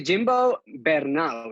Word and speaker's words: Jimbo Bernaus: name okay hi people my name is Jimbo better now so that would be the pronunciation in in Catalan which is my mother tongue yeah that's it now